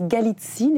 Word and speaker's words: Galitzine: Bonjour, je prononce Galitzine. Est-ce que c'est comme ça qu'il faut le prononcer votre nom ? Tout à fait.